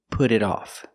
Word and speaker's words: put it off: Example, put it off. Pronunciation, put it off.